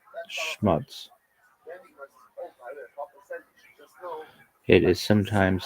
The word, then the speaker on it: schmutz: Properly pronounced, it should rhyme with putts, not cuts. Schmuts.